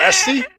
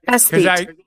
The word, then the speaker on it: esthete: Oh, Esty? Esty? It's something like that. It's close. Esty. What do you mean it's close? That's how you pronounce it. All right. You don't believe me? Yeah. Esthete. Yep, there we go.